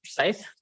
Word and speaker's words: Forsyth: How do you pronounce your last name? It's Forsyth.